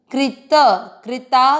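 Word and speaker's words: कृताकृतः: क्री, कृता, वापस क्री, कृत, कृता कृत, त में अ मिक्स किया है, कृता कृत, त में अ की मात्रा, इसलिए विसर्ग को पढ़ेंगे ह, कृता कृतः।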